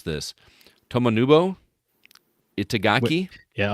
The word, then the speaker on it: Tomonobu Itagaki: I am going to mispronounce this. Tomonobu Itagaki. Yeah, I like you had an extra U there. Tomonobu Itagaki.